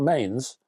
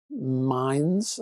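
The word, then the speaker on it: Mainz: Is that It's not Mains. Mines. I think it's Mines in Germany.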